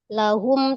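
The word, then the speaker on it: لهم: I lahum. tidak panjang. Jadi bukan mad sukun bacanya lahum. Jangan naik lanya.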